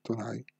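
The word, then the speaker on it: となり: Abbiamo detto che si pronuncia Tonari. Questa è lettura solo in giapponese. Quindi è una parola originale giapponese, non presa dal cinese. Allora, quindi è scritto solo in hiragana. Tonari.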